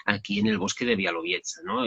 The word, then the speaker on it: Białowieża: Y en teoría se pronuncia Białowieża, o sea que es, bueno, el uso de las letras ahí es un poco distinto, pero le podemos decir Białowieża y ya está.